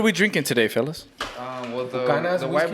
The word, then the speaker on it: Buchanan's: Well, Buchanan's the white whiskey? boys pronounced it Buchanan's, Buchanan's? which is correct because it's from Scotland.